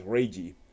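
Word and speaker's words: Leiji: or pronounced it as ray G which is not incorrect you know the that is a way of pronouncing it's the the L versus R can go either way it depends on what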